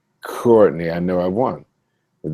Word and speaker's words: Courtney: We listen to the first syllable of our name. And if you hear the k, it's on.